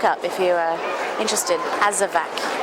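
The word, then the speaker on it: Azawakh: Azavak spelled with a W.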